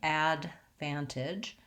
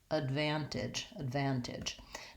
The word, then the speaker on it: advantage: But technically, because that first syllable is unstressed and short, we have a schwa vowel there. So we really have advantage.